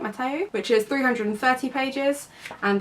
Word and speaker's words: Mateo: So the first book is Moxie by Jennifer Matteo, I think that's how you say it, Matteo, which is 330 pages,